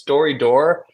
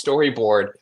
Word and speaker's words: Storydoor: I love it every single time that somebody gets, so it's Storydoor, but every single time that somebody gets the name wrong, it's always Storyboard, which made me think, man, I chose the wrong name.